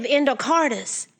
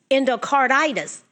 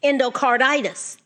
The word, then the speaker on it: endocarditis: B hepatitis C infective endocardis endocarditis always leave out a syllable I have to really work at saying that word endocarditis why why more people